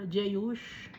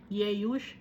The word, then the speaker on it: Jeush: and Basimath Ismael's daughter sister of Neboth Nebayoth kasi yung J later na pronounce no yung letter J dati ang pagkaka-pronounce ng J was letter Y no neoth no add